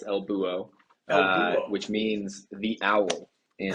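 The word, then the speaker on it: El Búho: States friends it's not Elbo yeah the H is silent so it's Elbo which means the owl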